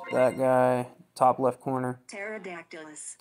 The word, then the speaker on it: Pterodactylus: guy top left corner pterodactylus pterodactylus when anytime you see terot the p p is silent t e r o